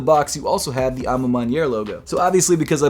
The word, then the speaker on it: Ma Maniere: Ma Maniere, which by the way it is pronounced Ma Maniere. I've been calling it Ma Maniere for months at this point, but I looked it up. It's actually Ma Maniere. Ma Maniere.